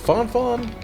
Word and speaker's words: Fang Fang: you see us now i've heard this name may be pronounced font font but how can one resist a name like that pronouncing it fang fang i mean it does